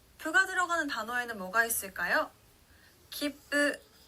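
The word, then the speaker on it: 切符: 기쁘, 표, 티켓이라는 뜻의 단어인데요.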